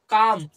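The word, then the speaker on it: calm: তাহলে এরকম যুক্ত শব্দগুলোকে আমরা এল উচ্চারণ করি না। তাহলে সি এ এল এম কি হলো? কাম।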